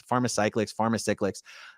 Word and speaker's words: Pharmacyclics: It's Pharmacyclics.